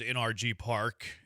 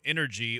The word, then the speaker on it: NRG Park: Junkie says NRG Park, home of the Houston Texans, is pronounced by spelling out the letters NRG Park. NRG Park. Do not pronounce it as the word quote energy or energy.